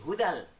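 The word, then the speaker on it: هُدًى لِّلْمُتَّقِينَ: Nah, dibaca hudan bertemu dengan lam jadi hudal, ya, diidghamkan bila gunnah tanpa mendengung.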